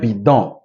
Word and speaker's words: bidon: will change the sound the N will be pronounced until you add an E to that consonant it will not be pronounced right so le balcon ok un bidon un bidon so no ok another one is